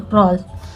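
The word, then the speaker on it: crawl: यहाँ पे क्रॉल, और एल के पहले डब्ल्यू हो तो ये डब्ल्यू साइलेंट होता है। ठीक है। क्रॉल।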